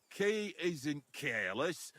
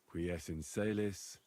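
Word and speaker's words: qui es in caelis: You're saying it wrong. Listen. It goes like this. Pater noster, qui es in celis, sanctificetur nomen tuum.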